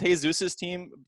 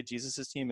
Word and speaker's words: Jesus's Team: is gonna sound crazy I like Jesus's team I think it's pronounced hey Zeus's team the three horse but I just like to say Jesus's team instead I meant since he